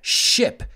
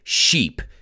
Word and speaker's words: ship: los tamos mandando but whatever you do don't pronounce it sheep it's ship and remember you can